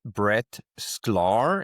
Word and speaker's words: Brett Schklar: I'm talking with Brettclar.